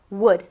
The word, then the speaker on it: would: Y por último tenemos a habría, would, would. Vamos a poner a nuestro would y a nuestro not. Would, W-O-U-L-D, la L que no se pronuncia, N-O-T, not, would not.